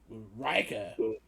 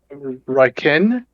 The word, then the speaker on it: Ryken: Oh, Riker. Riker's gone? Ryken? Ryken. Ryken? I always get his name wrong.